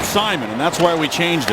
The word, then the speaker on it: Simon: And just to set the record straight on the first name of Dupre, in French his name is pronounced Simon, but the N is silent. But most people say Simone, which is actually a woman's name in French.